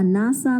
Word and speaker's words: NASA: For example, a SAARC company, a NATO member, a NASA member. Though all these words are abbreviations, but we pronounce it like a word.